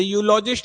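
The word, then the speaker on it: eulogist: और इसका जब प्रोनाउंसिएशन करूंगा तो कैसे करूंगा? यू, जैसे यूरोपियन था वैसे यूलॉजिस्ट है। तो यूलॉजिस्ट में क्या आ रहा है?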